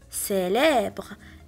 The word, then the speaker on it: célèbre: Le mot suivant, on a E après le C, donc on va le prononcer S, célèbre.